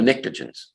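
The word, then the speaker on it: pnictogens: family is called the nicogens the p is silent now those all right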